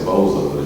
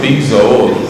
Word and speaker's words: Bezos: I always say Bozo, but Jeff Bezos of of Amazon.